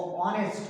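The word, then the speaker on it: honest: लेकिन यहाँ पे चूंकि प्रोनाउंसिएशन जो हो रहा है वो ऑनेस्ट हो रहा है। इसको क्या पढ़ेंगे, ऑनेस्ट पढ़ेंगे। तो जब भी आप ऑनेस्ट पढ़िएगा, इसका प्रोनाउंसिएशन ऑ हो रहा है, ऑनेस्ट हो रहा है, वॉवेल हो रहा है, तो इसके पहले हम क्या लगाएंगे, एन लगाएंगे।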